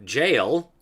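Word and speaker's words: gaol: of the person by secretly H him to jail Old English g a o l h kind of like policy which we pronounce as police today that's old English for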